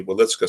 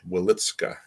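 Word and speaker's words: Wieliczka: He then ended up in the Witzka salt mine, which interestingly still exists in Poland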